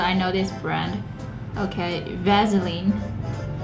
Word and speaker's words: Vaseline: know this breath okay Vaseline but where do you see a Z vaseline vaseline so easy you